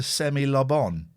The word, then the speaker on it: semi-lobon: When I get half a tea cake, yeah, I mirthfully refer to it as a semi-lobon, stressing the first and third syllables as you would to pronounce Simon Le Bon.